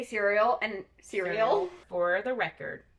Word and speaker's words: Suriel: Because she tried to kill the Suriel?